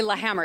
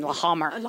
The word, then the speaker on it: Lahammer: can pronounce it sure lahammer it's norwegian la hamer yeah okay well we